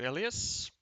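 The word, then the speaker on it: Elias: change now I know thank you ellias emphasis on the last syllable Asus wins his first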